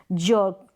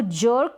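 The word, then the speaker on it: jerk: जर्क, इसको जर्क या फिर जर्क, ये दोनों उच्चारण मैंने दोनों तरीके से, यानी आर को आधे र के रूप में प्रोनाउंस कर रहे हैं तो ये जर्क इस तरीके से प्रोनाउंस कर दें, नहीं तो जर्क, तो ये भी सही है, यानी आर बिल्कुल साइलेंट है तो भी गलत नहीं है।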